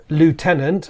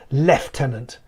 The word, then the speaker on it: lieutenant: It's a British affectation, a British military affectation, that the word lieutenant, or as you say lieutenant, is pronounced lieutenant.